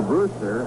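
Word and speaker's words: Brusstar: t a r but pronounces it as that were spelled phonetically Brewster and there's a good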